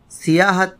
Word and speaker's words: سیاحت: ہے۔ سیاحت یا سیاحت، ایک غلط تلفظ جو اب بہت عام ہو چلا ہے وہ سیاحت ہے۔ عربی کے لفظ سیاحت میں تشدید بالکل نہیں ہے، نہ اس میں سین کے اوپر زبر ہے، اس میں سین کے نیچے